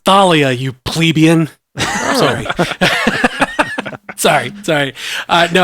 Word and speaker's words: Thalia: Jeff, it's pronounced Thalia, you plebeian.